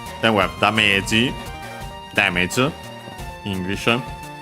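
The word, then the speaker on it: ダメージ: Then we have damage, English. I suspect the accent might be different in this case. Also notice the longer vowel, and yeah, the accent is on the me. So yeah, be careful.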